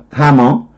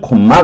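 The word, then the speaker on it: comma: saw me 한 다음에 카머 우리는 콤마 그러죠. 콤마 영어로는 카머 이렇게 발음을 하는 거예요. 제가 콤마라고 발음하더라도 이해하시고 카머라고 발음을 하더라도 이해하세요.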